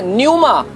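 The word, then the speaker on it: πνεῦμα: में इसको बोलते हैं न्यूमा। न्यूमा, पी साइलेंट आता है, पी पहला आएगा, पी NEUMA, न्यूमा।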